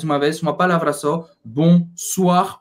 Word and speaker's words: bonsoir: vez uma palavra só bonsoir o i tem o som da do do como o assim b bonsoir e aqui mons a